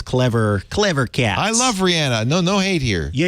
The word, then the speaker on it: Rihanna: that much and you like her enough to pronounce it Rihanna which is the real way her name is